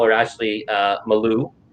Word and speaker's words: Mailloux: ashley i used to call her ashley uh malu right and it's ashley mayu and and derek your name i'll be honest